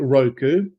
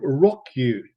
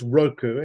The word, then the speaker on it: Roku: Okay, so um I always pronounce it Roku and I've never heard anybody else say the word out loud. So I'm guessing they're not called Rockyu. Uh, I think it is Roku and it could be